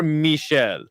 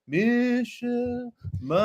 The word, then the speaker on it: Michel: um it's probably more it's probably more Michelle Michelle Melle yeah and send me a clip of him saying his name I guarantee you he doesn't say my name is Mel he's Brazilian dude my name is Michelle Michelle so I think